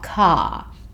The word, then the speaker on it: car: Now, car. Remember, as I said earlier, in Australia, we don't tend to make a strong R sound at the end of words. So this just becomes car.